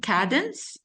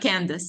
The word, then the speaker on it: Cadence: Even Cadence, is that how you pronounce it? Cadence, Candace? Cadence? No, it's Candace. not Candace.